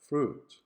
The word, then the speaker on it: fruit: syllables another example is the word fruit fruit which because of its spelling your brain will try to include the sound of the letter i there which is mute saying fruit through it